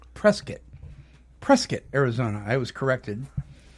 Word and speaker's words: Prescott: the hope vest and it's actually not pronounced Prescott it's actually pronounced press kit prescott arizona i was